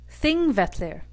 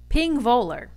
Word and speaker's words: Þingvellir: The next one is tricky. Thing-vet-leer. It's often mispronounced as Þingvellir. That's because the first letter is a soft TH, and then you have the famous Icelandic double L, which confuses everyone.